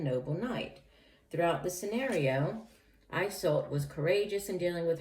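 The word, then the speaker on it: Iseult: of all the oh it's pronounced i salt i think i mispronounced it but eye salt is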